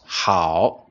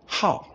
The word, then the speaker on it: 好: And pay attention in this meaning, we don't pronounce the word as 好 . Instead, we pronounce it as How. It becomes the fourth tone.